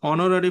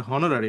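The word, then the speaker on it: honorary: যেমন হি ওয়াজ অনারারি professor, হুম, তাহলে এন। এটা কিন্তু অনারারি, এটা হনারারি না, এই জন্য বললাম সাউন্ডসটা খুব ইম্পর্টেন্ট।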